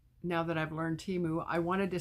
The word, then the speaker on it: Temu: way to say it I guess it's TAMU TAMU that's the way they were saying it on the Super Bowl I didn't watch it but that's what I was told so we pronounce it wrong here TAMU I don't